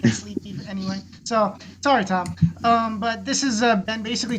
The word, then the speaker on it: Thom: You say Tom? No, Thom. Thom. Yeah. It's not pronounced as Tom.